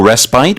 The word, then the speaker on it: respite: offering little, if any, respite. Right. So that word, I always go respite, but I think respite also probably is the UK pronunciation.